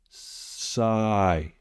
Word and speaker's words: sigh: This has a silent GH, but the I is long. So, sigh. Sigh.